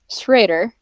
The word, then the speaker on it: Schroeder: Schroder that's strange because it rhymes with Vader if you pronounce it the way yes we do just to confuse everyone darts Raider that's right or everybody